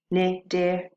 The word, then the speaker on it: Cnidarians: They're called the Cnidarians. Now, it's pronounced Cnidarians. The C is silent.